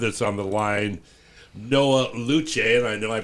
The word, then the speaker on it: Lucé: Well, uh, I alluded to a few moments again the new Canon theater company with us on the line, Noah Luche. And I know I pronounced it wrong, Noah, but how are you, my friend?